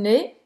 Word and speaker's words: nez: Não pronuncia o Z, tá? Ne, un nez, nariz.